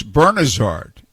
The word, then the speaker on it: Bernazard: betlay i said hey tony bernazard said something to me about the pronunciation of his name and it's bernie's heart and norm said okay